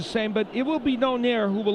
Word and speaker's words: Donaire: Pronouncing his name differently, but we go by Donaire because that's the way he pronounces it.